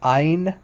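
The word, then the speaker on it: עין: i in modern Hebrew which is pronounced like Ein Ein it's not it's there's not it's no guttural it's not guttural at all um so in in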